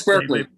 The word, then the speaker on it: Berkeley: I had a conversation with the gentleman at Berkeley University, which Randy might tell me is pronounced Barclay. I'm never quite sure. No, it's Berkeley.